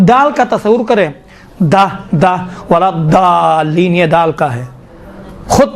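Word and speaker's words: ولا الضالين: من الظلمات، یہ باقی دال کا ضاد کا تلفظ تھوڑا سا مشکل ہے انشاءاللہ تعالیٰ، یہ ضاد کا تھوڑا سا دقت کریں، ولا ضالین، دیکھیں ضا کہاں بعد نہ، ضا میں دیکھیں ولا ضالین کہیں گے تو کیا ہوتا ہے؟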